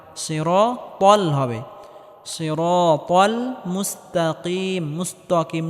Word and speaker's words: الصراط: ইহদিনাস সিরাতাল ত মোটা করে উচ্চারণ করতে হবে, তাল হবে না, সিরাতাল হবে।